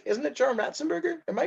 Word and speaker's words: Ratzenberger: you're saying it wrong it's just say ratzenberger yeah that's anne burger really in that like pronouncing the anne for some reason john ratzenberger i've it's hard i've been pronouncing it like for years i i've been pronouncing it wrong for like that long you're not pronouncing it wrong you're just putting weird enunciation in certain parts you're making it sound like rats and burger it's right like i'm